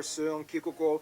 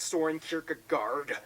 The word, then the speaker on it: Søren Kierkegaard: Hans Christian Andersen, philosopher Søren Kierkegaard, or whether... That's actually how you pronounce his name. Wow. It's not Soren Kierkegaard.